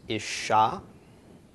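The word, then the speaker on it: אִשָּׁה: This is isha, isha, or you'll hear isha too. You also hear isha, yeah, or isha. If you pronounce it as a short I, it's isha, isha. You won't really confuse it with any other word, regardless of which way you pronounce that.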